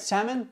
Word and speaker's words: salmon: okay we need salmon the L is silent all right salmon what else salmon salmon